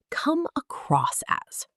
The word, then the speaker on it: come across as: Come across as. The stress in natural speech falls on cross.